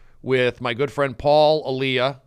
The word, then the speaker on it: Elia: It's not, there's no D. I've called you Paul D'Elia before. Yeah, but it's Paul Elia? It's pronounced, well, there's a couple pronunciations. I pronounce it Elia.